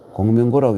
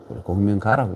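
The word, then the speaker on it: 公明賈: 그냥 이 고라고 읽어버리면 장사꾼이란 말이 되어버리죠. 그래서 아마 공명고라고 읽는 사람도 있는데, 아마 장사꾼이라는 의미로 그 당시에 이 산원공상 할 때 상을 제일 시원찮은 계급으로 봤는데 해칠 리가 없겠죠. 공명가라고 읽어야 될 것 같습니다.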